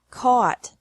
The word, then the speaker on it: caught: Catch, caught, caught. Fight, fought, fought. Seek, sought, sought. Teach, taught, taught. Think, thought, thought. Remember that the G is silent in these verbs.